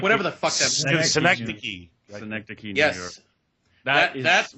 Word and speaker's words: Synecdoche: My favorite performance of his is Happiness, and I can't pronounce it, Joe. What is it, Joe? Sindo... Oh, God, no, Billy? Sindo Chin, no, New York, whatever the fuck that is. Synecdoche.